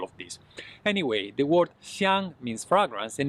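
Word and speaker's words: 香: Fragrance in Chinese, it's a xiāng first tone.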